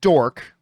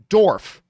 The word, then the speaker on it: Dorff: steve calderon who writes steven dork oh i'm sorry i mispronounced that dorf stephen dorf called black